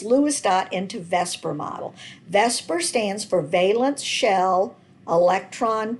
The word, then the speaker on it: VSEPR: dot into Vesper model Vesper stands for valence shell electron pair repulsion and no we know this word would not be pronounced Vesper but that's what every chemist calls it so it's the valence